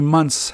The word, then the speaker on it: months: pronounce it how many months has it been it's like an S it's not you know the th is really silent sometimes you'll find students